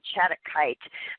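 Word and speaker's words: shattuckite: this with this card and with the stone chadakite uh which is spelled s-h-a-t-t-u-c-k-i-t-e is it talks about invoking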